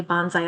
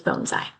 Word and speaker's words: bonsai: And it is pronounced bonesai. I know I say bonsai a lot, but the the correct pronunciation is bonesai.